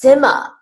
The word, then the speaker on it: Sima: rhymes with shaw but my first name is pronounced sima like similarity or cinema down now oh okay